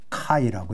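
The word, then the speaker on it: χ: 왔냐면 카이에서부터 왔기 때문에 원래는 사실 이거는 카이라고 읽어야는데 제멋대로예요. 그러니까 그리스어로는 그리스어 또는 헬라어로는 카이라고 읽고 가수 중에 카이가 있던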